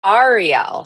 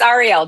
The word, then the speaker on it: Ariel: And actually, it's pronounced Ariel. So a lot of people think Ariel is Little Mermaid, but no, but it's Ariel. Just think like the three letters REL. Just makes it easier.